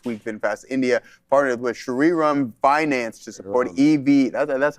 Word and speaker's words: Shriram: This week, VinFast India partnered with Shriram Finance to support EV.